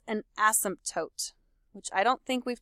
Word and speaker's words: asymptote: in the word and the correct way to say this word is seriously to say every single letter in this word asymptote but when you say